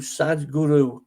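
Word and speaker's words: Sadhguru: inspiring me is is it's spelled sadh gu Ru sad Guru okay um he's done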